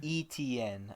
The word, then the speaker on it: Etienne: Etienne? ETN. Okay, it's just the 3 letters.